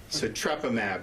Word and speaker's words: Sotrovimab: How do you pronounce it? Sotrovimab. Yeah, I always mess that up. So Sotrovimab was given EUA, I believe, in May.